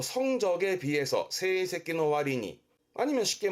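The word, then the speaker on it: 割に: 발음은 와린이라는 건 뭐뭐뭐에 비해서입니다. 비율을 의미하기 때문에 그거에 비해서 와린이 뭐 성적에 비해서 세이새끼노 와리니, 아니면 쉽게 뭐 그것에 비해서 소노 와리니라든가, 와리니는 뭐뭐뭐에 비해서를 주로 쓰게 되고요.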